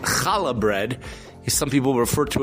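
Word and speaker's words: challah: That's the real term is kala. It's a Hebrew term. That's the real term. It's been in the English it's spelled for an American people pronounce it shala but the real term is kala and it's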